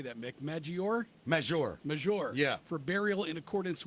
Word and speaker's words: Maggiore: Maggiore.